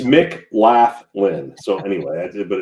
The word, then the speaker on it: McLaughlin: It's McLaughlin. So anyway, but it's pronounced McLaughlin.